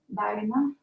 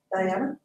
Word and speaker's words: Daina: Daina. Diana? Daina. D-I-N-A. No. Daina, D-A-I-N-A, but it's pronounced It's Daina. like Daina, but Daina, but instead of Daina, Daiva, say it with an N, Daina.